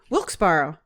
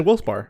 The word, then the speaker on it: Wilkes-Barre: So, and we have locally Wilkes-Barre.